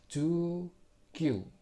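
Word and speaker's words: 十九: Jadinya ju kyu.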